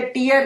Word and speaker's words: tear: मुझे 2 में से टीयर करके फेंक देती हूँ। टीयर नहीं, टेयर। किसी चीज को फाड़ने को हम टेयर कहते हैं।